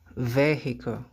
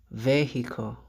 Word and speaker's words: vehicle: Vehicle. Vehicle.